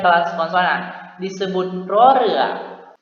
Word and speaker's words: ร เรือ: Huruf R dapat berupa konsonan awal atau ketika berada di awal suku kata dia dibaca dengan bunyi R, dan ejaan konsonan yang berbunyi N ketika dia diletakkan di akhir suku kata.